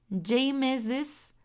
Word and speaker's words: James's: En este caso, como lo vengo diciendo anteriormente, como ya termina en S, ese posesivo se va a pronunciar como una is. Y en segundo caso se va a leer James's coat.